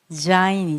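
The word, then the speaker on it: ז: 이분 은 자인 입니다 . 자인 (Zayin) 은 'z' 발음 이 나 는 이름 입니다 .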